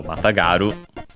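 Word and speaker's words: 跨る: So matagaru let's see accented. Okay. So matagaru uh mount and so the knee uh means uh mount on the star.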